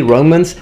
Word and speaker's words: Roma: coached, because you see, modern day Romans tend to pronounce Roma as Roma, Roma, with a closed O, not O. And in the ancient period instead, in Roman times when speaking Latin, it is more correct, the way they pronounce it back in the day would be with an open O, longer of course, so Roma, Roma rather than Roma.